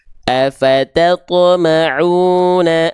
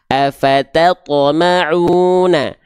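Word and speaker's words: أفتطمعون: Huruf to dalam kondisi sukun punya cara baca apa atau sifat apa? Dia punya sifat yang namanya adalah qalqalah. Artinya memantul.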